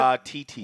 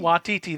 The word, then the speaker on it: Waititi: Watiti. Watiti.